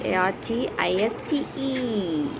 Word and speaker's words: artiste: said now is a-r-t-i-s-t the next word is a-r-t-i-s-t-e because it is ending with e and e sound happens here artiste in american and artistic and artiste in british artiste is a professional